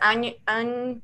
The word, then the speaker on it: Anya: She wrote it with a Y. That's how you pronounce it, with a Y. So it's Anya, whatever.